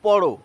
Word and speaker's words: পড়: তুমি বইটি পড়ো। উচ্চারণে দুটিই এক। বানানে আলাদা।